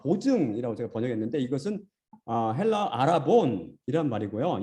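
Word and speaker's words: ἀρραβών: 이 말은 히브리에서 왔는데 히브리어 아라본, 헬라어는 V 발음 못합니다. V. 근데 여기서는 그렇기 때문에 헬라어는 이게 히브리어는 이 V, 베트가 B로도 발음되고 V로도 발음되거든요. 근데 여기서는 V, 아라본 입니다.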